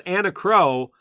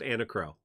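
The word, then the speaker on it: Enna Kros: a new character and her name is anna crow because in some world that's how you pronounce those letters i don't know that that's how you pronounce those letters in this world but in world of final fantasy e-n-n-a k-r-o-s is pronounced anna crow um i uh pisses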